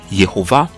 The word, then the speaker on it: Yehovah: Le Kamatz, donc le « a » de Yah, se transforme en Sheva, donc « e », quand le nom est élongé ou prononcé totalement.